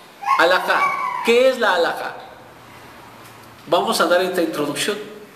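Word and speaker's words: halajá: Es alajá. Alajá.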